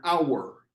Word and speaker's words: hour: words that begin with a silent consonant, an hour on the clock.